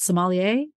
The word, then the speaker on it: sommelier: The wine steward, the wine expert, sommelier.